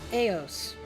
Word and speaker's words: AOS: organic organizational operation system it's pronounced EOS not only does it